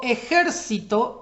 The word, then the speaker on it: ejército: acento es la penúltima si yo digo ejército es esdrújula porque la sílaba que soporta la tilde o el acento es la antepenúltima y ejercitase lo ya